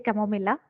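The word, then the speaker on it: Chamomilla: and I know yeah it is actually chamomila that is the correct pronunciation but you know out of habit I think I'm going to pronounce it as tamomile itself so you stick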